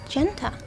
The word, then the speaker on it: Genta: more clearly and okay apparently it's Genta it's not how I would have at any point pronounced something that looked like an R but okay the dog